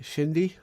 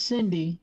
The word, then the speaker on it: Cindy: So is that means her name is pronounced Shindi? No. No. No, her. She is Cindy.